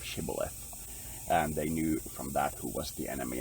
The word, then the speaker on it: Shibboleth: along that line and the enemy couldn't pronounce it right and they pronounced it's symbolic instead of Shibboleth and they knew from